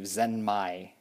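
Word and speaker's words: ゼンマイ: And in Japanese, I do believe Zenmai, pronounced that way, is supposed to be the term for wind-up.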